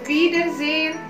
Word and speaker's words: Wiedersehen: Jadi bukan sehen, tapi sehen. Genau. Auf Wiedersehen.